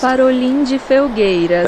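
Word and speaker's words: Farolim de Felgueiras: So I'm going to let Google tell you how it's pronounced. Parolim de Felgueiras.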